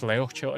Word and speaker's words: Leohtcild: I'm also just slurring it, because the proper pronunciation isn't Leochild, it's Leochild, which has that, like, glottal sound, which is just not in English, right?